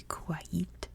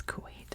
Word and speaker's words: Kuwait: So if you want to be like, oh, it's actually Kuwait. In America, it's Kuwait.